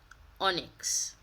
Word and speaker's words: Onyx: pronounce this word and this is actually how you pronounce it onyx i had to look